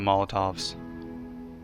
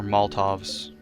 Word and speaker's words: Molotov: That's basically a buffed up Molotov cocktail, isn't it? Yeah, it starts fires. That's what I was afraid of. I don't like fires. Oh great, he's got Molotovs. Or Moltovs.